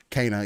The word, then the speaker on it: Kena: You got to hop into some Kenna or Kena, however you want to say it. Kena? It's Kena? Yeah, it's pronounced Kena. In the game, that's how they say it and everything.